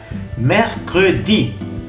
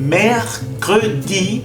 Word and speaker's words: mercredi: Ahora, mercredi. No es mercredi, no es mercredi, es mercredi. A ver, repite. Mercredi. El primero es E cerrada, el segundo es E.